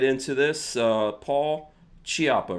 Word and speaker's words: Chiappa: let's see let's jump right into this Paul Chiappa right am i pronouncing that right that's ki ki Appa okay is that the same pronunciation of the